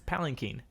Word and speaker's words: palanquin: didn't catch my attention that i've been saying it wrong it's palinking wow i've said this